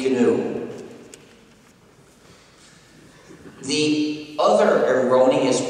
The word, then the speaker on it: GNU: new anymore but it still is canoe and will always be canoe the other erroneous pronunciation